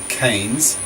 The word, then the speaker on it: Keynes: most famous 20th century economist John Maynard Keynes pronounced Keynes made this prediction ironically in the middle of